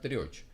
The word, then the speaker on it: Трёч: В фильме «Проданный смех» 1981 года не упоминается игра слов имени барона, в то время как в книге его фамилия читается не как Треч, а как Трёч.